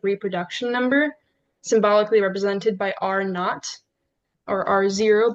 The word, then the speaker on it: R0: number symbolically represented by R not or R0, but it's pronounced R not.